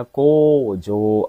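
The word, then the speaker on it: 工場: Ya, ini nomor 3 ini bacanya kojo.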